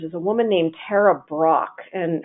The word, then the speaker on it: Brach: a woman named Tara brach and her name is spelled BR a CH it's kind of like the candy company and Tara brach is